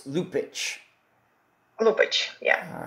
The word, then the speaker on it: Lupaca: it's spelled l u p a CA but pronunciation wise if we want to be correct here on found it's lupic lupic yeah all right very good Tatiana lupic